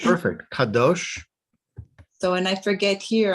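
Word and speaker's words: קדוש: Yes, that was Kadosh. perfect. Kadosh.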